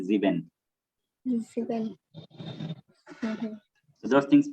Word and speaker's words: sieben: over there like S is pronounced as Z. Yes. Okay. Like instead of saying 7, you have to say Sieben.